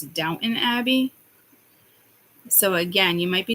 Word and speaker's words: Downton Abbey: sort of don't don't I heard Downtown Abby but it's Downton Abbey so again you might